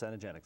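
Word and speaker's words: Cenegenics: Management medicine by the is that the cenogenics pronounced cenogenics that's corre genics education Research Foundation so once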